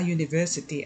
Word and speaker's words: university: Why do we say a university and not an university? Because in the word university, the sound of the letter U is the sound of the letter Y, which is a consonant.